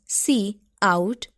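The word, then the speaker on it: cout: C plus plus language the C out pronounced as C out is the standard output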